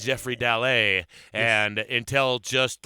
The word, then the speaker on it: Dallet: just like last night I've been saying your name wrong but I'm not gonna do it on the air God damn it don't call this guy Jeffrey dalit unless you're a dumbass